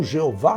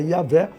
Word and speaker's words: Iavé: som dela, Iavé, ou Jeová, como vocês queiram, a pronúncia, né, do som mais próximo é Iavé, certamente também Jesus usava essas expressões.